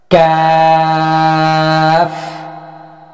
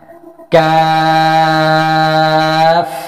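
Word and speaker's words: كاف: সুতরাং, আসুন আমরা এই অক্ষরটিকে চারটি আলিফ পর্যন্ত টেনে, জিহ্বার গোড়া থেকে সামান্য সামনের দিকে তালুর উপরের অংশে স্পর্শ করে এবং দৃঢ় ধ্বনিতে উচ্চারণ করি। কাফ, কাফ, কা, মুখটি খুলে যাবে।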